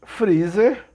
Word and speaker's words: Frazer: Esse Frazer, né? Na verdade, não se escreve Freezer normal, né? Como se escreve para o proleto doméstico. É Frazer, F-R-A-Z-E-R, né?